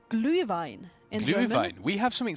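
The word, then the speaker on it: Glühwein: is called but it's not that hard to pronounce it's called glue Vine in gline we have something similar in England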